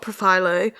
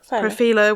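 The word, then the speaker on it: Profhilo: And she was saying she got Profilo. That is how you say it, isn't it? Yeah. Okay, Profilo? Profilo.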